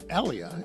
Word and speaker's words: Elia: back from anyone any listeners well it's Dr ellia and I'm going to spell that for those who may not know Elia Dr ellia uh associate professor at Townson University and